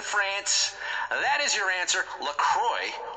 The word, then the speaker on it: LaCroix: that is your answer Lacroix or Lacroix if you want to be French about the pronunciation is actually headquartered in